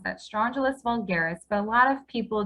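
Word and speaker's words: Strongylus vulgaris: stronger that large straw gel his name is strangelus vulgaris okay that's how you pronounce that strangelist vulgaris but a lot of people just call it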